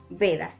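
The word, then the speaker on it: वेद: Va, al igual que en su carácter de semivocal, cuando está al principio de una palabra o precedida de una vocal, va a sonar como una B, como por ejemplo en la palabra Veda.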